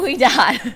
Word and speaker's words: Ouidad: of Bend in the hair curls are not we do right so anybody can check it out it